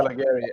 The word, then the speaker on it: Calegari: And That would be the Italian name to say it. I'm third generation. We say Calegari. I could care less. Calegari.